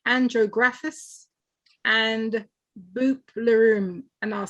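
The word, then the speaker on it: Bupleurum: well it's got something called andro graphis and boopleroom and i'll spell it b-u-p-l-e-u-r-u-m and it's it's something in there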